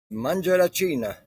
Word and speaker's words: Mangiaracina: And your last name is pronounced Mangarina.